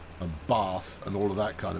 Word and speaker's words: Bath: you get castle and bath and all of that kind of behavior from it and yes it is car it is Bath um because that's what the people from Bath uh pronounce it as uh equally if you're